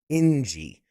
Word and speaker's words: Njie: Daniel Stisen and Njie. It's like enjoy, but Njie.